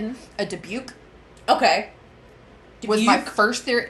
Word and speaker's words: dybbuk: movie that it was, there's 3 ways to pronounce this, so I'm just going to pronounce it one and stick with it. Mm-hmm. A debuke. Okay. Was my first theory. Dybbuk.